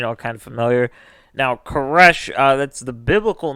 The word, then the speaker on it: Koresh: kind of familiar now koresh uh that's the biblical name of cyrus the great uh which would have i always heard it pronounces like korosh but would be you know the english-americanized version yeah and uh he